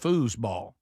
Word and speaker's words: foosball: This is a very subtle difference between fooball and foosball. I think it should be pronounced foosball. Not like fouse like goose ball.